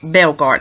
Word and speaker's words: Bellgardt: I want the introduce director and writer ryan Belgard and hopefully I pronounced your last name correctly right yes you